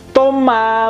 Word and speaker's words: Thomas: borrusia Dortmund itu adalah Toma menit Oma menyihir as tidak dibaca kemudian nama Thomas kalau dibahas gratis tuh biasanya esnya tidak dibunyikan karena SD Ujung juga